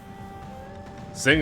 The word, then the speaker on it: Zhang: Zhang is pronounced like a cross between Zheng and Cheng.